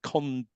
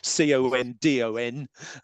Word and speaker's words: Condon: report on UFOs the infamously known as the condom condom committee c-o-n-d-o-n I nearly mispronounced it after Dr Edward Condon this this